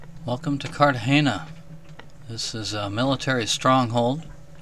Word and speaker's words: Cartagena: beautiful Cartagena let me pronounce the G as an H and the E is an A so it comes out as Cartagena our first stop